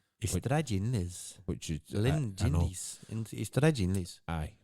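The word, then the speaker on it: Ystradgynlais: It's pronounced that way, but it's spelt with a Y.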